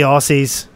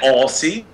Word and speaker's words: Aussie: Silly Aussies. Silly. Did you just say Aussie? Isn't that it? Aussie? Aussie. Like Aussie. Aussie. Yeah, but we pronounce our S's here.